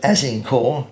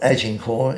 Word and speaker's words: Azincourt: Interestingly, those people who have had the good fortune of going to Azincourt, not Agincourt, it's spelt with the G is replaced with a Z, in France, which is not so very far away from Calais.